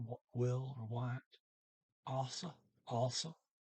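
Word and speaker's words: også: will or what also also it's o g s a circle now the g is not pronounced so it comes out also chapa to shop um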